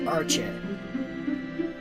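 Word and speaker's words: Arche: Yeah, apparently in the anime, her name is pronounced Archie. It's one more syllable I have to use, damn it.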